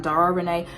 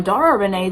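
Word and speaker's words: Dara Renée: Now, and also it looks like the accent is on a different E, like on Dara Renee. Yeah, on Dara Renee, the accent is on the last E, and on Sierra Renee, it's on the middle E.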